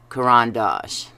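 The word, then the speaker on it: Caran d'Ache: the watercolor crayons and I'm calling these Coran Dash I think in the past I've said K because it sounds so cool but I really have no idea how to pronounce the name almost everybody says Karan Dash all the YouTube artists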